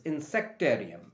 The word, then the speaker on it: insectarium: like an aquarium this is auditorium this is insectarium insc t a r i u m insectarium